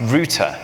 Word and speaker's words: router: based on some URL is actually pronounced Rooter so if we go